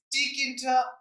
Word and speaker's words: Tkinter: catered I don't know tkinter aquata I suppose the T is silent but what is key